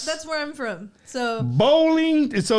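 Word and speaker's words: Boling: So bowling, so it's pronounced like you bowl, right?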